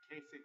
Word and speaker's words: Kasich: And then uh, Kasich, Kasich rhymes with compromise.